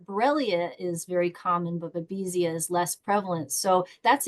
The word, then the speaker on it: Babesia: MELISSA PRUSINSKI: "Babesia," yup.